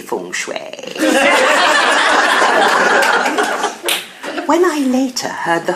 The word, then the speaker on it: feng shui: "No, Tom, it's actually Feng Shui."